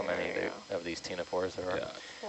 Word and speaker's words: ctenophore: C as in ctenophore. Every time I write ctenophore now, I hear your voice saying that. You want me to open the... I'll probably wait to open the box until we stop moving. I think we need to do a Sesame Street song about, silent letters and I'm not submitting